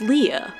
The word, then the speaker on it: Leia: Or should I say Princess Leia? Believe it or not, in the first Star Wars film, the princess's name is spoken only 3 times, and every time it's pronounced Leia.